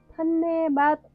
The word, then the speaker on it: धन्यवाद: ध न्य वा द धन्यवाद कुछ लोग इसे ‘दन्नेवाद’ भी कहते हैं।